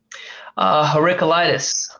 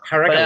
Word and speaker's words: Heraclitus: Heraclitus. Heraclitus.